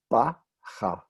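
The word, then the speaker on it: בכה: This is bacha. Bacha. That means he wept, he cried. Do we pronounce the final hey in this one? No.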